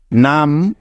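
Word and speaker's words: numb: হবে হ্যাঁ একদম ঠিক এখানে বি এর কোন উচ্চারণই হবে না যেহেতু বি এর আগে এম আছে তাই কারণ এটাই হলো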